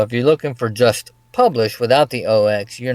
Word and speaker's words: Publish0x: But we're going to talk about, is it Publish0x or Publish0x? Which is the proper way to say it? Yeah, it's pronounced publish. They just call it publish, Oh, but I usually throw in publish OX.